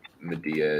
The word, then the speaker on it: Medea: so jason is similarly kata she he abandons media or media is it media or media oh i uh this is how medea is how i pronounce it even though like that's the name